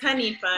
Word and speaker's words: Hanifa: I always say it wrong, and I feel like I say it wrong. It's Hanifa. Hanifa.